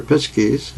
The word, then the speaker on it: Pisces: changeover from one age the age of pisces their pizzkies as some pronounce it to another age of